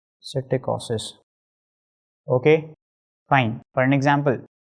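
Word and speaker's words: psittacosis: P is silent over here that is citicosis.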